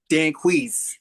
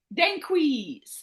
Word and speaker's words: Danquis: Did I pronounce this well? It's Danquis. Dan Dan. Danquis.